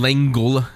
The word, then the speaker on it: L'Engle: So it's A Wrinkle in Time by Madeleine L'Engle, as Jay was telling me. It's how did you say it's pronounced, Jay? L'Engle.